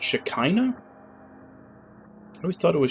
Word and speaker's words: Shekinah: vanishing the shekinah glory is unraveling it's pronounced shekinah i always thought it was shakina as they're pronouncing it was um like the